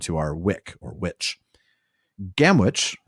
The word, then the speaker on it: Gamwich: Gamwich, I pronounced it that way because that's how it's spelled, but then he puts in parentheses pronounced gamage, so that's how we pronounce gamage. It looks like Gamwich.